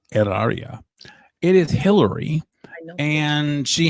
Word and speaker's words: Hilaria: And I wanted to ask you about Hilaria Baldwin, Hilaria with an H, of course, with a silent H, which I will be